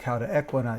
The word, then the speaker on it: cauda equina: Now here's the cauda equina in red, or you may pronounce it cauda equina, you know, all those